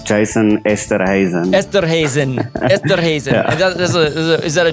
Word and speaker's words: Esterhuizen: Yeah, it's my wife doesn't love me because of this, but it's Jason Esterhuizen.